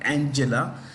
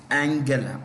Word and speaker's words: Angela: autobiography of Angela Merkel it's not Angela it's Angela what is it Angela